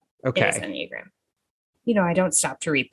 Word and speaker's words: Enneagram: I thought it was Enneagram. Oh, you're so right. Enneagram. It is Enneagram. It is Okay. Enneagram.